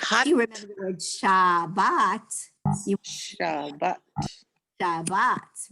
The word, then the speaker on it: Shabbat: you remember the word Shabbat, you Shabbat. Shabbat, right? Shabbat. So, aw as in paw, no, because that's too aw, that's not ah, aw. That's a more kind of closed sound.